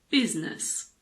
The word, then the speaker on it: business: here's some good news we basically always pronounce i the main exception is in the word business it's not business it's